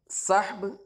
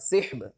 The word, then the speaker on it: صحب: کتنی طرح سے ہے۔ تو صحب صاد کے فتحے کے ساتھ اور صاد کے کسرے کے ساتھ صحب دونوں پڑھا جا سکتا ہے، اور یہ اس میں